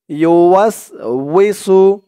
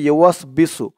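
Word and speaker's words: يوسوس: দর্শক, সূরা নাসের আপনারা এখানে যে একটা ভুল করে থাকেন সেটা হচ্ছে আপনারা বলে থাকেন আল্লাযী ইউওয়াস বিসু, ইউওয়াসবিসু বলে থাকেন। ইউওয়াসবিসু বললে এই উচ্চারণটা সঠিক হয় না। বলতে হবে আল্লাযী ইউওয়াসউইসু, উই ওয়াওজের উই, ইউওয়াসউইসু,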